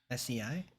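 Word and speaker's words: 生: better let's see next this one's normally pronounced say sei and it's used in a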